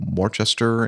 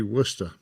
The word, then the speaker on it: Worcester: Together with 4 passengers, Erasmus was scheduled to fly Monday morning from Worcester in the Western Cape to Nelspruit with a few stops on the way. That'll be Worcester.